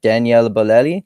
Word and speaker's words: Daniele Bolelli: it is it is it a is it Daniella Belletti that's how is that how you pronounce it closed yeah yeah okay and of